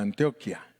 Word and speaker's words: Antioquia: que se llama antioquia ellos no le dicen antioquía le dicen antioquia yo no sé por qué los colombianos le dicen diferente a nosotros porque tiene acento en la última en antioquía pero ellos le dicen antioquia le ponen el acento en la primera y y les gusta